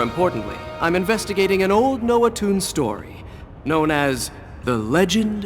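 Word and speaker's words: Noatun: But more importantly, I'm investigating an old Noah Toons story, known as The Legend of Aesir. Noah Toon, that's how it's pronounced.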